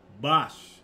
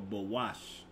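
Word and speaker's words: בוש: Bosh will be the way you pronounce there, or bawash. All right? The ba, the wa, and the sha. Okay? But I believe I know the wa and the sha are connected, all right?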